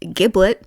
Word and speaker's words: Giblet: Then you meet a new character whose name is Giblet, but for some reason they pronounce it Giblet.